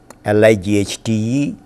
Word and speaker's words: light: G-H in Middle English, L-I-G-H-T-E and R-O-U-G-H. In modern English, this sound disappeared and we have light. Although you write L-I-G-H-T, G-H is not pronounced, and we have R-O-U-G-H,